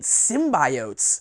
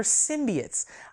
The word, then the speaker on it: symbionts: about the symbionts and she keeps pronouncing it symbiotes sin by Oats over and over again not okay there symbionts I don't listen I guess that that's maybe a legal pronunciation but come on what a symbiote no not on board not on board with